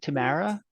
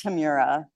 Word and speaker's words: Tamira: Did you pronounce it Tamara? No, it's Tamira.